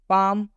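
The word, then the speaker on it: palm: पाम, पाम का मतलब होता है हथेली। पाम में भी एम से पहले एल आया हुआ है, इसलिए इस एल का उच्चारण नहीं किया गया है।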